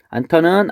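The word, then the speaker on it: 않던: 안턴은 앞음절의 히읗과 디음절의 디귿이 만나서 안턴 이렇게 변하고 있습니다.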